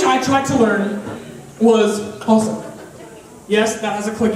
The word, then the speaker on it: Xhosa: It's not Xhosa, it's Xhosa. Okay, I want everybody to try this. And they say white people can't click. It's like, okay, that's the X. That's the X click.